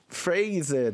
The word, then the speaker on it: phrase: 방금 phrase에 대해서 얘기를 해주셨는데 PH가 붙으면 또 F 발음이 나고 이런 게 너무 어려워요, 영어는.